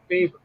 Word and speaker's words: Favre: If you look when he was drafted, he was actually drafted Brett Favre. And that's the way it's pronounced, Brett Favre.